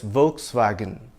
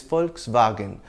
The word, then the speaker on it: Volkswagen: In English, it's usually pronounced as Volkswagen, but the original German pronunciation is Volkswagen, which means people's car.